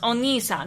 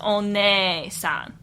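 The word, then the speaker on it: お姉さん: Now, your English brain might look at this and say, hey, this is pronounced oni-san because that double E means something completely different to us than it does to the Japanese people. But this is not the case. It is one-san.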